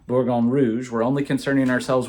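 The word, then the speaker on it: Bourgogne: about what burgundy is burgundy and in French spelled like that hopefully that's in focus for you is borgon borgon Rouge we're only concerning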